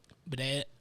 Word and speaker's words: Baudette: Bidet. Bidet? Baudette. Like a bidet? Yeah, pretty much.